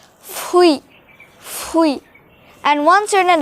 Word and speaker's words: fruit: hard i know but the spelling is the same as fruit only that is pronounced like fui and once you're in